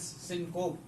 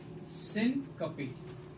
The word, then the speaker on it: syncope: Usually, the students pronounce it as syncope, but it is syncope.